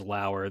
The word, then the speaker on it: Lower: this show yeah so his pronunciation for his last name obviously is lower they spell it l ao- and then in parenthesis they put rhymes with power it's like why would